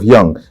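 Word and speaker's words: Jung: written gust yeah gust Young The Young is j u n g is German j u n g you know J J in German is pronounced like why like why so wow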